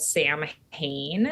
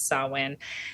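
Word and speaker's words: Samhain: so Halloween is a holiday that we call sawin it looks like it's spelled Sam Hayne and some people pronounce it that way but the old pronunciation is sowin and this is a holiday that essentially celebrates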